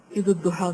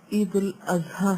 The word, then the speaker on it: عید الاضحیٰ: جی ہاں، بعض لوگ عید الاضحیٰ کو عید الضحیٰ کہتے ہیں، جبکہ یہ عید الاضحیٰ ہے. اضحیٰ اضحیہ سے، لغت کے اعتبار سے عید الضحیٰ کہنا درست نہیں. اور عید الاضحیٰ کا معنی قربانی کی